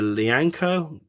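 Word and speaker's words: Lyanco: Ooh, straight to the Southampton defender, Lianco.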